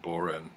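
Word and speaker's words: bodhrán: It's a wooden beater that is usually meant for use on a frame drum, an Irish frame drum called a bodhran, or it's actually pronounced borin, but I call it a bodhran or frame drum.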